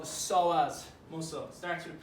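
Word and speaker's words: psoas: is one that gets into something called the solas muscle starts with p p s so as the d is silent so this one's kind of awkward to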